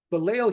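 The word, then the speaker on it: בליל: But balo here is kind of setting a phonetic theme because it alliterates and virtually rhymes with yal, which means they whail,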